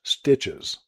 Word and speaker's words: STCHS: The group adopted the name Southern Tuolumne County Historical Society and used the acronym STCHS, pronounced Stitches.